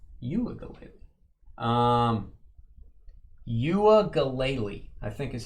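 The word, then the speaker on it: Uiagalelei: Uagalele, I think is how you say it.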